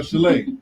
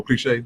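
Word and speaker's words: Cliché: got someone like um your cousin uh Chalet I say her name right oh cliche cliche I'm sorry my bad then you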